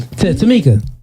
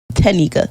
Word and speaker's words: Tanika: Tamika. Just say T. Nah, I actually got a song. Tamika. N. Not M. Tanika.